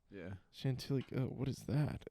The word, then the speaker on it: Chantilly: that it's like c-h-a-n-t oh look at that it's exactly how it sounds yeah Chantilly oh what is that